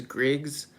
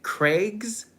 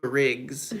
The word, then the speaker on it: Griggs: mean when I tell people my name is Griggs like 95% of the time they say Craigs like like c r a i GS and I'm like no Griggs g r i oh everyone always thinks it's